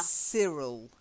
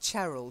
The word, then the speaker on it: Cyril: okay so we've got yeah Cyril not charile Gerald is a girl's name and Cyril is a boy's name so Cyril try it yeah that's it if